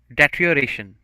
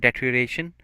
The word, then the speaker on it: deterioration: the next word is deterioration so a little difficult pronunciation it is but it's very simple if we are going to just cut it out data EO rate like then we we say deteriorate so but if it